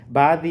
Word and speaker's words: baadhi: And then we have the word baadhi. So take note of the third syllable there. We have 3 syllables. Baadhi.